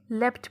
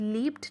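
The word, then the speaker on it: leapt: इसको आप लेफ्ट pronounce करेंगे, ये लफ्ज़ लीप्ड नहीं है, लेफ्ट.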